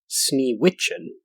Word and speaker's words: Sneewittchen: So the Grimm fairy tale, number 53, or as it's more commonly known, Snow White, was originally pronounced Sneewittchen, and I hope I'm saying that correctly.